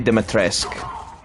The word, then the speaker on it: Dimitrescu: Also, I pronounced her name wrong. It's Lady Dimitrescu.